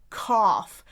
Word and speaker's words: cough: bought, or brought, or cough. And notice how that last one also has the GH as f.